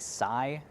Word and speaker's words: Tzai: The next bit of magic I want to talk about is the Sai, which is spelled really weird, but in the audiobook it's pronounced like Sai.